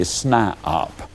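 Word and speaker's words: SNIOP: toe and they become what i call a snipeop now that's spelled s n i o p that is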